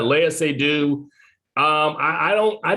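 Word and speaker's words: Léa Seydoux: think the um uh her name is pronounced leia sedu yeah leia say do um i i don't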